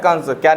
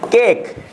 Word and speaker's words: cake: Sound यहाँ पे कह रहे CAKE, केक, ठीक है ना। केक हो, दिखाते भी होंगे, उसे क्या बोलते हैं? केक। केक है ना, केक पढ़ेंगे, ना कि काक। काक हमारा गलत हो जाएगा।